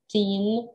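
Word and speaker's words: thirteen: Поэтому, пожалуйста, обращайте внимание на то, как звучат, как мы правильно должны произносить числительные, да, 2%, 13, два ударения, да, первое и второе более мощное на суффикс teen.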